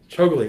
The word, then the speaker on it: Chougule: Well, Chougule, did I pronounce that correctly? Chougule. Chougule, I'm sorry.